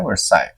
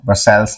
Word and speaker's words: Versailles: ये लिखा हुआ है, बट इसका प्रोनाउंसिएशन होता है वर्साई। ये आपको ध्यान देना है। ठीक है, वर्साइल्स नहीं बोलना है।